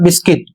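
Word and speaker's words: biscuit: शब्द तो बिल्ड और बिस्किट, इसकी स्पेलिंग है BUILD, बिल्ड अर्थ बनाना। अगला शब्द है VISCUIT, इसका उच्चारण है बिस्किट और इसका अर्थ भी बिस्किट होता है।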